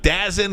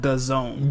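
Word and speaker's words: DAZN: at Little Caesars Arena it's gonna be on dazen is that that yeah is that how you say it yeah dancing called The Zone The Zone The Zone uh the Zone I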